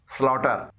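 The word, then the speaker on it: slaughter: स्लॉटर, यहाँ पर GH से पहले यू आया है और ये GH साइलेंट है।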